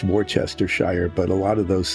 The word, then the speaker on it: Worcestershire: So it should be pronounced Worcestershire, but a lot of those things, those British English things, they just skip a whole lot of the letters when they say them.